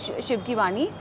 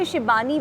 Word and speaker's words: Shibani: for Shivani and also it's Shivani and when you say shibani which is a very Bengali sized we're pronouncing and writing this name yeah it means sweet